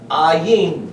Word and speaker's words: ayin: The only difference in this word and this word, or, the aleph, which is the number 1, and the ayin both have an A sound.